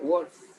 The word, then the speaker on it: Wolff: Suena un poco como a lobo en inglés, ¿verdad? Wolff.